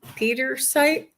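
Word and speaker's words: Pietersite: Oh, this one. Peter site. Peterite. Yep.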